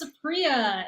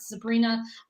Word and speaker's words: Supriya: heck you are sure um my name is Supriya and it's secret not Sabrina um which a lot of people call me